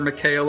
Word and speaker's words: Michal: other partner mahal i always get her name wrong you can call her mikhail if that's easier for you but mikhail if you would go ahead and introduce yourself as well hi everyone my name is michal and i'm an